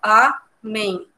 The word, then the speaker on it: amém: porque a sílaba tônica é o men. A gente divide essa palavra em amém. Divide aí, ó, amém. E aí, entre amém, o men é a sílaba mais forte.